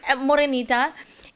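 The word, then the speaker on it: Morenita: Morinita.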